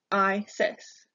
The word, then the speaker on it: Isis: dead Isis is the next goddess you can pronounce her name by saying ice insists Isis Isis Isis is the goddess of protection next